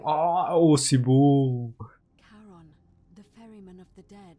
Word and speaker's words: Charon: It's just as you described it, only your pronunciation is a little off. The name you heard wasn't Karen. It was C-H. Ah, c'est Caron. Oh, c'est beau. Charon, the ferryman of the dead.